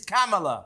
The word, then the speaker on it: Kamala: Well, you could pronounce her name properly. If you love her so much, it's Kamala. If you're a Trump fan, you're going to vote for Trump. Think of a camel and then put an A on it.